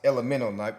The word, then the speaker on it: LMNO: It's spelled LMNO. This is the main logo, the key logo, and but it's pronounced Elemento. Like when you was a kid, you'd be like Elemento P. So it's pronounced like that, even though it says that.